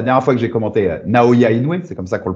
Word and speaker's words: Naoya Inoue: Et tu vois, moi, pour l'anecdote, la dernière fois que j'ai commenté Naoya Inoue, c'est comme ça qu'on le prononce.